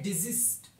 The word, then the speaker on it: desist: 197 पे आता है डिजिस्ट। इसका जो पहला एस है उसको आपने जेड की उसमें प्रोनाउंस करना है, दूसरे को एस की। डिजिस्ट।